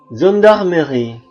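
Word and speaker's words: gendarmerie: diikuti oleh huruf vokal I dan e dibaca Z contoh azir gendarmeri magji logisel saage page garage azir itu aksi atau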